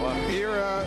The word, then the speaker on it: Amira: Desert Rose, Amira.